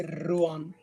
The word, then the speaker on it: Ruan: Is that how you pronounce it? Yeah, Ruan. It would actually be Ruan, but yeah.